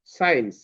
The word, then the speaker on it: science: আরো ওয়ার্ড আছে যেমন সাইন্স, SCIENCE, এস এর পরে সি আছে ওখানে, এই জন্য সিটা ওখানে সাইলেন্ট হয়ে গেছে।